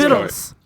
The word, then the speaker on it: victuals: It's How did I pronounced see this vittles.